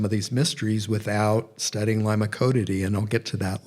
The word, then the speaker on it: Limacodidae: And then I'm going to talk about Limacodidae, the slug caterpillar moths, and they can be pronounced limacodid, or limacodid.